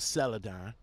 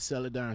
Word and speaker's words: Celadon: So, I came across a couple of videos, a couple of articles about Celadon. Yes, I said it right, Celadon.